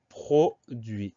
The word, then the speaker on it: produit: Première syllabe, pro, PRO, sans aucun souci. Deuxième syllabe, dui. Alors on va avoir le D, le U et le I pour avoir le bon son, dui. Mais on a un T à la fin, un T muet, un T qu'on n'entend